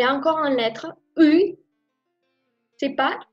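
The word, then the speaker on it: ы: fait correct parce que ce n'est pas I, c'est U. Il faut prononcer en retirant la langue.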